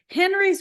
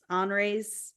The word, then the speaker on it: Henri's: It's Henry's with an I, and I can't speak French, so it's Henri. Henri's.